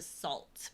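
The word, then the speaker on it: Sault: City's like and it's called the salt but spelled like s a u l t and it even has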